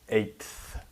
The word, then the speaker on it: eighth: in the th but even with just one t it's still pronounced eighth so you have the